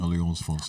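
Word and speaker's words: Alliance Française: How do you pronounce that again? Alliance Francaise. Alliance Francaise, sorry.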